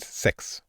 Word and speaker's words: sex: as well because um the number and the act are both spelled s-e-x in swedish and pronounced six they're both pronounced pronounced the same a lot of punting